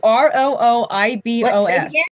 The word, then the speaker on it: rooibos: now rooibos tea I always thought it was pronounced it's r-o-o-i-b-o-s and it's called rooibos tea and they actually